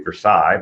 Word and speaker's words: Versailles: To the right of that is their Versailles still, which most of us would say Versailles, but apparently it's pronounced Versailles in Guyana.